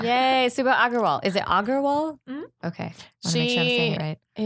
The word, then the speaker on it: Agarwal: Is it Agarwal?